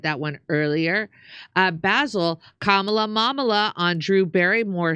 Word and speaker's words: Kamala: pronunciation of kamla is KLA the second syll syllable a is very short and the third syllable a is long thank you so much